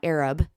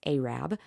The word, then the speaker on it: Arab: live in North Alabama it's not Arab it's spelled a r a it's Arab so we were going